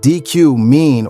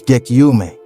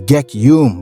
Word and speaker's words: Gekyume: She said, "I know it's kind of hard to say, Gekyume. If I hear people like DQ mean or gay, then I'm like, no, it's Gekyume." The correct pronunciation is Gekyume, by the way, in case you were wondering.